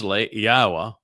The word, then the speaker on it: Yahowah: a transition and focusing on what follows thus Yahwa which is the proper pronunciation of Yahwa our elawah god as directed